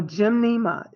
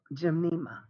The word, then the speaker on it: Gymnema: you get a tincture so gymnema G Y M in II M a Jim gymnema you can get the